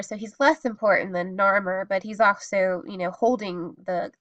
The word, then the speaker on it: Narmer: Um, but these are phonetic hieroglyphs, and so there's a horizontal fish, which is called nar, and above a vertical chisel called, and that's the sound mer. So Narmer, and it's phonetically spelling his name.